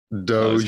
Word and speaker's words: Doge: And is it Doge or Dage? Doge. Get the name wrong. Doge. Jared Doge, yeah. Like Dogecoin, yeah.